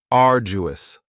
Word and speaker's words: arduous: And arduous has three syllables and the stress is on the first syllable. Ardu. Now, you don't hear that D sound that much. It's not very strong. It almost sounds a little like a J.